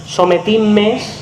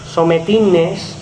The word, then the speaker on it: Sometimes: Després que tenim bé les pronúncies Sometimes, Sometines, amb N, fixeu-vos-hi, perquè moltíssima de gent, quan més edat, diuen Sometines.